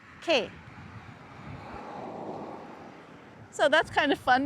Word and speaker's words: che: We would say K, which means what, or that. And so that would be C-H-E, K.